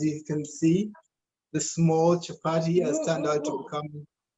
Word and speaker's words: chapati: Is chapati?